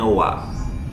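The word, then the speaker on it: は: Nah, lalu di sini partikel wa itu hiragananya ha. Ditulisnya ha, tapi dibacanya wa.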